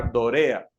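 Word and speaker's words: δωρεά: En este caso hay varios términos que son importantes y son, primero, el término que ven allí en griego se pronuncia dorea, ¿no? Es una pronunciación aproximada, recuerden, no somos expertos en griego, como Ricardo Barrera, ¿no?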